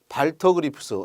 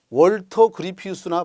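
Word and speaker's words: Walter Gropius: 발터 그리프스 요 W가 비읍 발음도 나요. 월터 그리피우스나 발터 그리프스 둘 다 맞는 겁니다.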